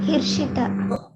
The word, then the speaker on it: Hirshitha: Can you spell it better? HIRSHITHA. Hirshita.